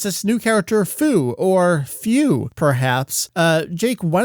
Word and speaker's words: Fu: And it's this new character, Fu, or Few, perhaps.